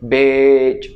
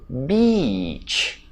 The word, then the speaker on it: beach: Look at my mouth it's opening when I say BEACH” Right?